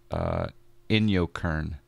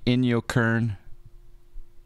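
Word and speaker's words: Inyokern: Yankee kilo n you in yo Kern kind of like in your face but in your Kern it's not too far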